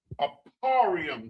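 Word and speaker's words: אפרים: Aparium, the ah, the pa, the ra, the ya, the ma.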